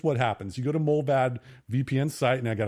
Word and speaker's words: Mullvad: we've done, okay, and now we've got Mullvad. Mold like warm cider, and vad rhymes with rad.